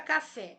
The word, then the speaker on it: café: A palavra café, eu descobri que a sílaba tônica da minha palavra café é a fé. Fé está na última sílaba, portanto, ela é oxítona.